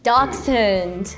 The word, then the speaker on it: Dachshund: It's similar, Dachshund, but you have more of like a Dachs.